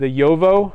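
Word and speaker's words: Jowo: thing, are using the Yovo nibs. So it's spelled J-O-W-O, or Bach.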